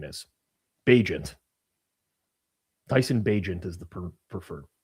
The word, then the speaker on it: Bagent: the league, let's figure out what the preferred pronunciation is. Bagent.